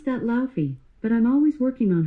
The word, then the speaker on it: Laufey: the name spelled l-a-u-f-e-y she was going to pronounce it lao i'm taking that as rhyming with cow and then fee so with that information